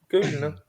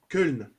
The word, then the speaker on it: Köln: Köln. Köln. Köln. T'as vu cette prononciation allemande?